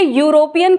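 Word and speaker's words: European: यहां ये ई से स्टार्ट तो होता है लेकिन जब इसे हम बोलते हैं आप एक बार इसे बोल कर देखिए हम इसे यूरोपियन कहते हैं।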